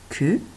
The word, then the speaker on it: queue: Ils ont une longue queue. Donc attention ici au piège du U muet.